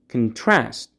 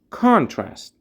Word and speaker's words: contrast: One pronunciation point. As a verb, contrast. As a noun, contrast. Contrast, contrast.